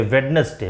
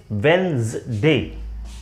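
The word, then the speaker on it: Wednesday: ये next word आप लोग सुनेंगे, इसका ज्यादातर प्रोनाउंसिएशन लोग बोलेंगे वेडनेसडे। नो, इट इज नॉट वेडनेसडे, इट इज वेंसडे, वेंसडे, वेंसडे, वेंसडे।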